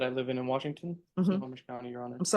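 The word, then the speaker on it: Snohomish: Snomish County, your honor. I'm sorry. What? Snowomage County. Spell that. S N O H or S N O H O M I S H. It's Snomish.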